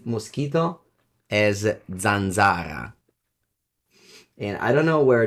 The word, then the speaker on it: zanzara: As always, remember that you can always Google questions, but since that's a very fun word, I'm gonna pronounce it for the stream. Italian says mosquito as zanzara.